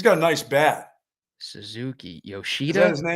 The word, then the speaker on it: Yoshida: That's not his name. Shashida? Not Shashida. Yoshida. Yoshida. Okay.